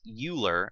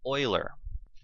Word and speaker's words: Euler: Yes, that is not pronounced Euler, it is pronounced Euler. If I hear you pronouncing it Euler, I will shun you forever.